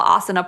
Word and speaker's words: asana: of like you put together series about is asana am i pronouncing that right no you are in it